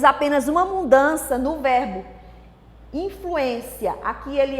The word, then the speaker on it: influência: Por um acento que nós tiramos, a classificação gramatical mudou. De substantivo passou a ser verbo. Leia. Influência. Grande influência. Influencia. Porque eu tirei o acento, a sílaba tônica mudou, né? Veio para o final.